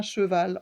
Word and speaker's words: cheval: On entend deux syllabes, donc si on doit l'écrire, on écrit d'abord che avec un CH qui fait ch, et le E, che, et ensuite on entend val, v, le V, va, a, le A, cheval, l est à la fin, c'est le L, c'est un petit trait comme ça.